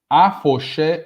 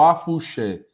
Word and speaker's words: afoxé: Afoxé ou afuxé. Vende-se como afuxé, mas quando a gente vai pronunciar alguma aula, a gente fala afoxé.